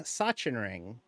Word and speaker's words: Sachsenring: How did I pronounce Sachsenring? Sachsenring.